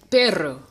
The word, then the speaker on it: perro: The reason why is because the emphasis is on the second to last syllable. It's perro instead of perro.